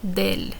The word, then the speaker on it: del: uh pronunciation purposes so we're not saying de el conductor we're simply saying uh del it runs together it